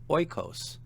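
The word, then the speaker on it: οἶκος: Oikos, house, a circumflex on the penult.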